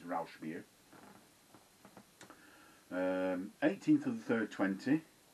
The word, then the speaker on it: Rauchbier: Is that how you pronunciate it? Rauchbier. R-A-U-C-H beer. B-I-E-R. It's German. Rauchbier. I think it's Rauchbier.